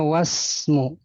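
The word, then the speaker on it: واسم: Nah, ini Hamzah wasal bacanya wasmu.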